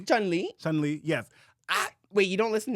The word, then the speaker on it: Chun-Li: Is it Chun-Li? Chun-Li? Chun-Li, yes.